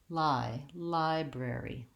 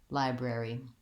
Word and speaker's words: library: So, air, rare. Then I just add my B, brer. Finally, library, library.